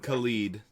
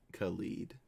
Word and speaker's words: Khalid: looking up the pronunciation yeah khalid khalid yes like k-u-h-l-e-e-d khalid and now i also